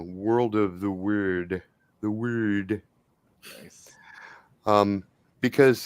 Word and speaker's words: Wyrd: The Wyrd. Nice. Because Wyrd, which is pronounced somewhere between weird and word, is actually related to both.